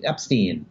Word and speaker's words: Epstein: you know he should call me Epstein that's the correct way to say it you know but that